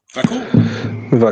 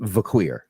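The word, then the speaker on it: Vaquer: Monae and that's uh Stephany vaker is that how you pronounce it V vur vur yeah vour parkour I knew it wasn't vqu so there we go but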